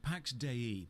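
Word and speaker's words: Pax Dei: one year later 165 Pax de that's how it's pronounced the developers said so is a Sandbox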